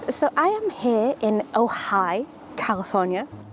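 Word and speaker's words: Ojai: I am here in ohigh California which I love the pronunciation of it sounds like everyone's just saying ohigh I'm at the very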